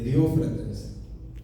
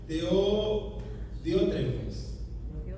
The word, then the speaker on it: Diótrefes: Pero es Diótrefes. Ya, Diótrefes.